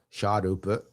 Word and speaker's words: Sharpe: Sharpe would be the way you pronounce sharp. Sharpe.